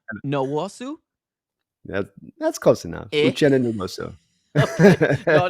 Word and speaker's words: Uchenna: That's not one we don't run across in America a lot, with that pronunciation on those 2 letters together. So Yushina Nwosu? that's close enough. Uchenna Nwosu.